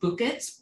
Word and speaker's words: Bukit: bucket well i mean technically it's pronounced bukit but we're american so we call it bucket and we bought the